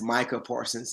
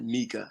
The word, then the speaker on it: Micah Parsons: By the way, it's Micah Parsons and not Mika.